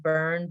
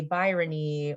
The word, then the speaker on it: Byrne: It's pronounced Byrne, but it's not spelled that way. And so, people would say Byrony or Bernie, or they would put an S at the end, because at the time, Mr.